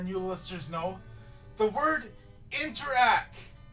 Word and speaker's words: Interac: interact doesn't exist it's interact there's a reason why there's no T at the end and the reason is because you don't pronounce the T at the end okay Chipotle another one